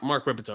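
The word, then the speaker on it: Rippetoe: He's Mark Ripito, right? I'm not getting his name wrong.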